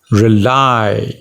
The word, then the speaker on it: rely: pronounce this word rely it's a two-syllable word and you stress on the second syllable lie rely it means to depend